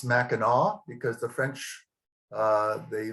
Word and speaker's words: Mackinac: talking about Mac here it's called Mackinac but it's actually pronounced Mackinaw because the French uh